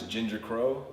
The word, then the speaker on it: JingerKroa: The way you pronounce it is JingerKroa.